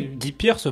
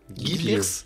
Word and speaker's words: Guy Pearce: Après, Guy Pearce pourrait l'avoir aussi hein, pour le Guy second rôle. Guy Pearce.